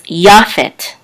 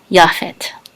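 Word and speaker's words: יפת: accent is this line right here so it's Yaphet japhet in English we say Japheth now anciently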